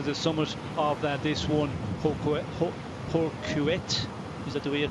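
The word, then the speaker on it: Hourquette: 5 there to the summit of this one, Horquet, is that the way you pronounce it? Horquet, yeah.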